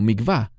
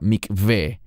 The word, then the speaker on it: mikveh: Normalmente los mesiánicos que hablan inglés lo pronuncian como mikvah. No es mikvah, es la palabra mikveh.